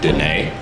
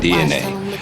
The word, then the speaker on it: DEINAE: People will probably see the name and say Deinae, but it is DNA. And I'm gonna tell you where DNA comes from.